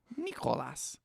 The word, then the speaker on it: Nicolas: banger that i made nicolas that's how you pronounce it in in greek nicolas um i don't know